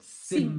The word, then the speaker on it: simpa: But when you put them together, you get simpa Simpa. with M, no? Simpa. Yes, because Pronounced as an M. Yes. Simpa. Because every time you have a word with an N and a P in Spanish, it's an M.